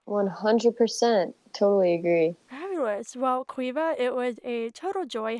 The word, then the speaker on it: Caoimhe: So my actual name is an Irish name, and it's spelled Caoimhe, but it's pronounced Queeva.